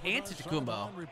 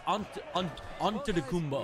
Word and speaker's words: Antetokounmpo: And it's he said that it sounds like with a D. I thought it was Antetokounmpo. It's definitely not. It's Antetokounmpo. Giannis Antetokounmpo is the reigning MVP.